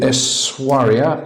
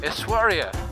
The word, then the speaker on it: Essaouira: Very pleasant staying here in Essaouira. Sorry, Essaouira. Must pronounce it correctly.